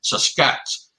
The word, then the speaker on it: Sasquatch: The best way to pronounce is take the word basket, drop the B, and put SAS in it. Sasquatch.